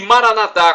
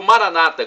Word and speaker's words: Maranatha: para o seu bem e Maranatha como dizemos nós católicos o Maranata como dizem nossos irmãos separados os evangélicos ou protestantes não importa a pronúncia o significado é o